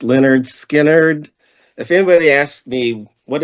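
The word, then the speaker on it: Lynyrd Skynyrd: Now, my number 20 for 1973 pronounced Leonard Skard.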